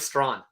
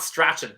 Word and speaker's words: Strachan: Yeah, it's Mike Strawn. Strawn? It's not Strachan. It's Strawn.